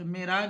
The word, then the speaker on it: معراج: اگلا لفظ معراج. معراج میں پہلا مکسور، دوسرا ساکن، تیسرا مفتو.